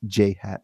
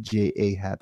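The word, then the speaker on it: J.A. Happ: So today they did a trade for J Hap, and it's pronounced J Hap, not J A Hap, like some people think it is.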